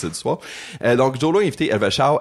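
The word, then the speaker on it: Elva Hsiao: Il y a aussi la fois qu'il cruisait Elva Xiao, ça se prononce Xiao, ça s'écrit H-S-I-A-O. Ça se prononce donc Elva Xiao, qui était une chanteuse taïwanaise, une très populaire à Taïwan.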